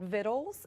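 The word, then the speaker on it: victuals: which is wonderful so her book it's called vittles it's spelt Vict you ALS but it's pronounced vittles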